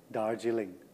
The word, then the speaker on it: Darjeeling: So you want to know how to pronounce Dargiling? Well, there I just said it. Dargiling.